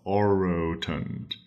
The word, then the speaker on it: orotund: like it means oroton the word has a r sound and it starts with a big round O and it repeats itself oroton with those two o's there so oroton it's some